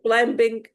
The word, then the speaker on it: climbing: yes yeah, climbing or climbing climbing, the B is silent yeah, yeah while I was climbing the wall, I fell down or fell off.